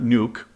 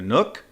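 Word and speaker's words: Nuuk: visiting the capital Nook it's not nuke I learned that the last time I was there it's actually two syllables so I'm going to go to Nook and then I'm going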